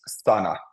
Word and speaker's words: sana: So here, this word is sana. Sana. So the A sound is short in both the A's. They're short. Sana.